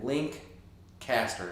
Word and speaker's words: Lancaster: monkey says hello from lancaster pa hello there it is you just got to think about it as link and then link caster it's like link history